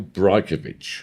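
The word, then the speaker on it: Brajkovich: His name, I can never pronounce it. Michael Brajkovic.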